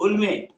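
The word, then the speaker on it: Hulme: उल्मे. उल्म कहते हैं, H silent होता है, या कैसे भी कह लीजिए.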